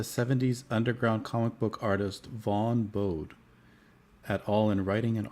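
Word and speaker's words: Vaughn Bodē: it could be I mispronounced the name. It's Vaughn Bode.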